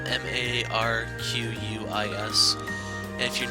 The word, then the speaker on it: Marquis: Then when you realize that I's make an E sound, and the last letter is silent, you'll realize the word is actually supposed to be pronounced Marquis, as in Marquis de Sade, who was